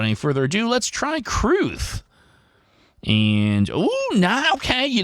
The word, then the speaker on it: crwth: was told by my producer Cassandra Hammerstone is pronounced cruth um crwth uh which I believe is a